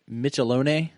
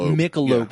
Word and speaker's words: Michelob: Um this is their uh is it Michelone? Michelone Reserve. Uh Michelob is pronounced Michelob Reserve.